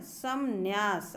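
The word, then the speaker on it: संन्यास: वास्तव में इसका उच्चारण ऐसे है यह हां समन्यास ऐसे है आधा म भी है आधा न भी है लेकिन ये मुख सुख जिसे कहते हैं ना तो ये बोला नहीं जाता है आधा मा लेकिन रहता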